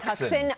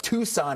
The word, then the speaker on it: Tucson: I was in a city tu su and I pronounced it tux. Tuxen. Oh my gosh. And it like has lived with me forever, but Tucson, Arizona.